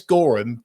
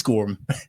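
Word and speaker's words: Goreham: is um if you if you if you don't know how to say his name, just say Chris Gorum quickly. Chris Gorum. Okay, just say that and then you'll get it.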